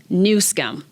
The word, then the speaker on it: Newsom: when I thought I was done with Gavin newsam and just for the record the name is pronounced nusum let's have some respect now let's talk about this friendship with the Chinese shall we in October nsum made a trip to China to promote climate